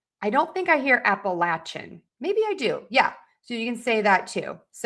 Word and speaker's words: Appalachia: And then let me do Appalachia as well. Yeah, same with that. So lay or latch.